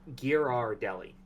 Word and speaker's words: Ghirardelli: the name is gear gear r Deli uh you do pronounce the r Ghirardelli in fact yes